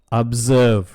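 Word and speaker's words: observe: delight பாருங்க அந்த ஜி நம்ம சொல்லவே இல்லை மிரட்டு தரட்டன் திரட்டன் உன்னிப்பாக கவனி அப்சர்வ அப்சர்வ் இங்க பாத்தீங்கன்னா அந்த ஆர் இருக்கு இல்லைங்களா அதை நம்ம சவுண்டா உச்சரிக்க மாட்டோம் ரொம்ப சைலண்டாதான் உச்சரிப்போம் அப்சர்வ் நம்பிக்கை கொள் ஹோப் ஹோப்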